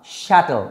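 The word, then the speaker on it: chattel: Except himself has শ্যাটেলস নান, শ্যাটেল উচ্চারণটা চ্যাটেল নয়, শ্যাটেল।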